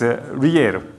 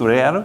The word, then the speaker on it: Riel: Local currency's name is, looks like Brazil, but it's Riel, R-I-E-L. It's not real, but we call it Riel.